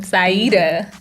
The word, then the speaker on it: Saidah: And I love how she pronounces her name, Saidah. I did it right? You said it Saidah.